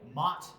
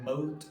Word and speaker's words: Moth: But even like Mott or Moat or Moth, the boy, is another one where it's like, it's